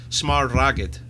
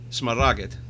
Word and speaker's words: Smaragd: I'm sure it was Smaragd. Smaragd. That's it. Smaragd.